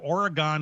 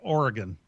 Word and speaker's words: Oregon: We pronounce it Oregon in Wisconsin, and the state is pronounced Oregon. I'm not sure I understand that, but that's just the way it is.